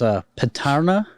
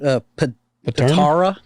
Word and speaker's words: Patara: And where he's from in Turkey, it's Patarna. How do you say it? Patara. Patara. And It's actually, he originally was from the city of Myra. I kept calling it Pantera.